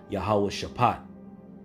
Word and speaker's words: Jehoshaphat: Ultimately, World War III being fought over there in the Valley of Jehoshaphat. In the ancient Hebrew, that's pronounced Yahweh Shapat.